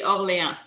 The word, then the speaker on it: Orléans: you pronounce it, but I pronounce it Orleans or Orleans. I don't know. Orleans. Aren't you You know French? which one I'm talking about? Yeah. I think it's Don't Orleans. you speak French? Orleans. Yeah, I would say for me it would be Orléans. So I'm Yeah, not your native language is but French. I don't think everybody pronounces it that way.